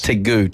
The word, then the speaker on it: tegu: Tegu, T-E-G-U. I don't know if I'm pronouncing that right.